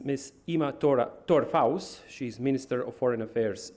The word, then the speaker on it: Tora Faust: So, correct pronunciation is Ima Tora Faust.